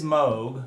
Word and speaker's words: Moog: nice move logo and it is mogu by the way it's not moog for all you uh unfamiliar folks uh it's definitely moog and i will be pronouncing it that way throughout the entirety of this video series here we go folks